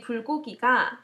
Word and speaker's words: 불고기: But in Korean, we pronounce 불고기. 불고기. I think this is the most famous Korean food. 제 생각에는 이 불고기가 가장 유명한 한국 음식으로 생각되네요.